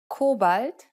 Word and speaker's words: Kobalt: Compare a few English words with their German derivatives. Pretzel, Brezel, bagel, Bagel, cobalt, Kobalt, Autobahn. Autobahn. The difference is quite obvious. Be sure to always pronounce words using German consonant and vowel sounds when speaking German. Get out of the habit